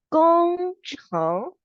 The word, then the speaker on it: 工程: So it's called 工程控制. The sound 工程 itself is engineering. Control is 控制. So it will sound like GOH, go plus gong, and then cheng is c, cheng.